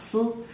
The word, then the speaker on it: 丝: of a thread, which in Chinese is sometimes pronounced si, is also a pun for thoughts or melancholy or love longing.